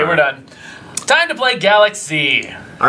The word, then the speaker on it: Galak-Z: it is it is it is pronounced Galaxy all right here we